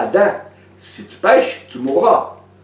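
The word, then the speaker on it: אדם: Le mot Adam en hébreu, ça prononce Adam, et ça veut dire humain.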